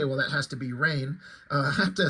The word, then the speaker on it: Rahne: younger, I don't know, I thought it was pronounced Ronnie, like R-A-H, like Ra and then knee or something like that, Ronnie. And then somehow, somewhere, I guess I got the idea. I think the dialogue, somebody made a joke like it's raining or something like that in reference to her or something like that. I'm like, oh, do you pronounce it rain?